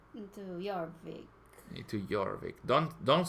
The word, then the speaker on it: Jorvik: Well, I would go to Norvik, to Jorvik.